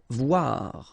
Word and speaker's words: Voir: Voir, okay, same thing here, O-I, oua, voir. Vouloir, okay, O-U, ou, and then O-I, oua, so vouloir, okay.